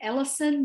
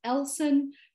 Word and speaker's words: Ellson: And then you can also add an audio pronunciation of your name. Lots of people call me Ellison, but it's Ellson.